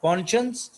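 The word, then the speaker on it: conscience: एक guilty कॉन्शियंस, guilty कसूरवार, कॉन्शियंस जमीर, spelling note करें, CON कॉन और आगे साइंस लिख दें, लेकिन पढ़ना इसको कॉन्शियंस है।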